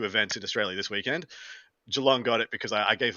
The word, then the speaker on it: Geelong: Is that actually a Geelong? Am I saying it wrong? No, it's a G. Geelong?